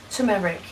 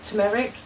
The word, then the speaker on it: turmeric: one teaspoon of turmeric turmeric that is how you say isn't it tumeric the tumeric pre-written that's turmeric turmeric half a teaspoon of